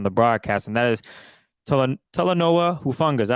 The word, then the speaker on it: Talanoa Hufanga: over again on the broadcast, and that is Talanoa Hufanga.